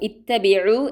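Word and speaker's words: اتَّبِعُوا: ഹംസത്തുൽ വസ്ൽ നമുക്കിവിടെ കാണാം. മുൻപുള്ള ആയത്തിനെ കൂട്ടിച്ചേർത്താണ് പാരായണം ചെയ്യുന്നതെങ്കിൽ അതിന് ഉച്ചാരണം ഉണ്ടാവുകയില്ല. അല്ല എങ്കിൽ ഈ എന്ന ശബ്ദം അവിടെ ഉണ്ടാകും. ഇത്തബിഉ എന്നാണ് പാരായണം ചെയ്യേണ്ടത്.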